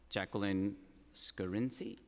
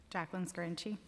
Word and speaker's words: Jacqueline Scarinci: I want to call up Jacqueline Scarinci. Is that, did I say it correctly? Yes.